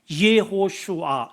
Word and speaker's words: 여호수아: 이름을 부르게 된 겁니다이 여호수아의 원어의 발음이 뭐냐면 예호슈아 그래요 예호슈아 이게 어떤 이름과 같으냐